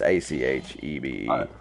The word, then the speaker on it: Achebe: Yeah, Achibi. I don't know if that's how you pronounce it. It's Achebe.